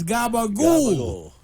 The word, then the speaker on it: capicola: here it is okay how do you say capicola in New York talk pepper cold gabagool close enough it's not capicola it's GABA Google all right look you